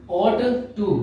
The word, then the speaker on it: ought to: अब ये जब मैं वर्ड प्रोनाउंस कर रहा हूं तो ought to दोनों को अलग अलग नहीं बोलेंगे. जब दो कॉन्सोनेंट्स एक साथ होते हैं तो एक ओमिट हो जाता है.